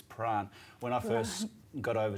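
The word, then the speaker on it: Prahran: and speaking of names there's another strange name to promote pronounce is pran when i first got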